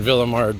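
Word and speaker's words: Ville-Émard: coming up alert and we're in Villa marred by the way which rhymes with the Lord all right now I'll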